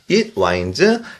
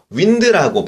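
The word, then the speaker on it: winds: 이름은요 이더 기혼 기혼이 와인즈 자 보십시오 이것을 윈드라고 바람이라고 읽으면 안 됩니다 이것을 인라고 읽어야 합니다 윈드가 아닙니다 와인입니다 자인지는 둘러싸 둘러서 흐르다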